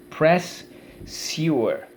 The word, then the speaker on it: pressure: let's go let's so let's go press sorry press press sewer press u so let's go first syllable press second syllable you were great way to